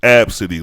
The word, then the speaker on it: Abcde: Now, the pronunciation, as the article said, was Abcde, like abs or something, Abcde.